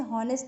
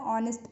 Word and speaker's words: honest: ठीक है, इससे हॉनेस्ट ना पढ़ के आप ऑनेस्ट पढ़ेंगे. ओके, एच आपका साइलेंट है.